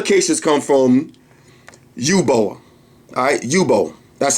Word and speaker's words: Yubo: Alright, Yubo. That's how you pronounce it.